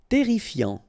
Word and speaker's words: Terrifiant: Terrifiant. Final T not pronounced. Double R here, so it will open the pronunciation of your E, and then it will be E. Terrifiant.